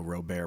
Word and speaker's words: Robert: to the yes and that is actually the the the French spelling these French pronunciation of Robert you know robear but they didn't spell